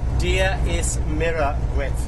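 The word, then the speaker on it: Dia is Muire duit: Dia is mira gwit. Okay, dia is mira gwit. Dia is mira gwit.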